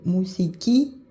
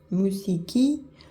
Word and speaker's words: μουσική: Par exemple, musiki, musique, musiki, c'est l'accent sur la dernière syllabe.